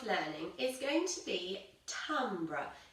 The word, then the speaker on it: timbre: So this week our subject of learning is going to be timbre. It's spelt T-I-M-B-R-E.